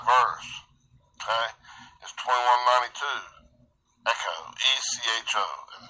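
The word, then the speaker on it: ἔχω: Echo, E-C-H-O, and it's pronounced this way.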